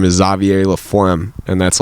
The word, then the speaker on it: Xavier: It might be Xavier, but I mean, he said Xavier. Xavier. Because Xavier would be... What? Yeah, Xavier is like the French.